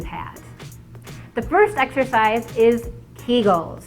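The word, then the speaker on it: Kegel: the first exercise is kull if you're not familiar with kull or they're sometimes pronounced Kagel it's the contraction of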